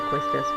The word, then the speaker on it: Quistis: Thanks, Keistis. I do pronounce it Quistis, by the way. I think some people say Quistis, but oh well.